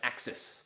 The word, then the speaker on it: AXS: But it's called AXS, and pronounced AXIS. That's how they're going for it.